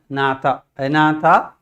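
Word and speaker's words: Agnatha: under a division called anata G silent we pronounce it as Natata if J or present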